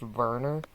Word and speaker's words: Werner: I think his name's actually pronounced Werner, because he's German.